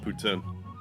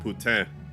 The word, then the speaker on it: poutine: usually just call it poutine. I think if you want to be correct with the pronunciation of it, it's like putain, but I just don't say it like that.